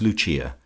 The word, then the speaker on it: Lucia: intimate of her subjects as Lucia, pronounced, of course, in the Italian mode La Lucia, the wife of Lucas.